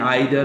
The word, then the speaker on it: either: अच्छा, इसको आप नाइदर नो पढ़ें या नीदर नो पढ़ें। अच्छा, नीदर अमेरिकन इसको नीदर भी प्रोनाउंस करते हैं और ईदर भी करते हैं, और ये इनके दोनों तलफ़्फ़ुज़ हैं, आइदर और ईदर, नाइदर और नीदर।